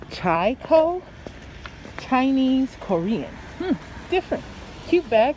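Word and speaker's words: ChiKo: Hey, Chico! Arrived. Let's go get them their Chinese food. We have hungry tummies to feed. I guess they pronounce it Chai-ko.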